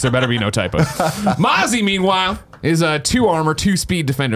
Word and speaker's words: Mozzie: As revealed during the 6 Invitational Year 4 Season 1, will bring 2 new operators, Mozzie, right? That's how you say it, Mozzie, and Gridlock, as well as a new map named Outback.